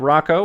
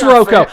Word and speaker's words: Rocco: It sort of changed from sort of its Italian origins. I've got family back out east who prefers the Rocco. I prefer Rocco, and my mother, all